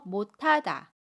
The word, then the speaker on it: 못하다: 현상입니다 우리 예문 볼게요 못하다 못에서 받침 시옷이 첫 소리에 오는 자음 히읗을 만나요 그러면 받침 시 옷은 받침소리 디귿으로 발음하고이 받침소리 디귿이 첫소리로 이동을 합니다 그래서 디귿 히읗이 합쳐져서 타로 발음해요 그래서 못하다 못하다라고 발음합니다 세 번째 경우 볼게요